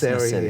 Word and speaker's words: Naseri: Yes, it's Naseri. Yeah. It sounds like nursery.